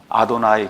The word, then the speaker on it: 아도나이: 이렇기 때문에 눈으로는 JHWH가 나오면 여호와라고 눈으로는 읽지만 밖으로 발음을 할 때는 아도나이 그렇게 이제 발음을 한 겁니다.